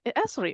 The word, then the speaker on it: Esri: And to know that you actually pronounce it Esri as well. We're not just making up the pronunciation of it.